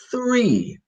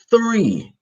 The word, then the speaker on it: three: for Italians so it's three put your tongue between your teeth three three and this is how